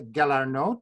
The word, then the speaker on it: Galarneau: Lisa Galarneau. Did I pronounce that correctly? That's great. That's a perfect French pronunciation.